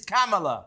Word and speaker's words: Kamala: Well, you could pronounce her name properly. If you love her so much, it's Kamala. If you're a Trump fan, you're going to vote for Trump. Think of a camel and then put an A on it.